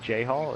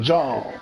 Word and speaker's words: Jhall: Everybody says it J-Hall. It's just like my first. It's not a Jahal. but Jahal is perfectly fine with me.